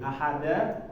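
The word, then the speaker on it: أحد: Maksudnya di sini adalah setengah harokat. Ahad. Stop, jangan dipanjangin juga.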